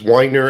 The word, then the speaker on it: Weiner: It is Weiner, as in one who wines a lot or one who enjoys drinking wine.